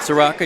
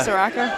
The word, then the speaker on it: Saracco: But Saracco, how do you say his name? Dino. Saracco, yeah. Saracco.